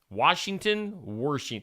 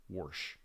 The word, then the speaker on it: Washington: Washington. I'm going with Washington being mispronounced that drives me crazy. Warsh. There's no R in Washington.